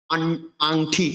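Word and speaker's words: আংটি: এবার পরবর্তী যেমন আংঠি, আংঠিকে আমরা উচ্চারণ করবো ট ট ট ড ড ন, জন্য আমরা অনুসার উচ্চারণ ন করব, আংঠি।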